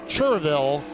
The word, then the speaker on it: Cherryville: speedway from cherryville and yes it is spelled cherryville but if you're in north carolina you will be corrected it's cheerville lance moss lance moss